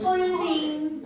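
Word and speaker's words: Pauling: 폴링. 네. 폴링? 폴링. 아니 내가 좀 이제 영어식 발음을 했더니 발음이 그지 같았어.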